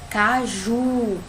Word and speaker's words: caju: aqui a gente tenho palavra caju a sílaba mais forte é o juro para você vai marcar